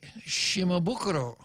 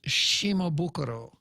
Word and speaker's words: Shimabukuro: the island doctor cosily Shimabukuro now almost everybody on the island mispronounced that word her name is Shimabukuro it's not okay yeah it's not shimabukuro yeah so she left